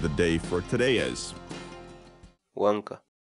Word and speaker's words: wank'a: series videos where we teach you how to pronounce certain words in Quechua so our word of the day for today is Wonka Wonka Wonka in English the Quechua word loca means